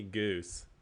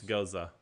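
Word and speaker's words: Gose: what is it don't don't call me goose yes because people mispronounce Goza all the time yeah and they actually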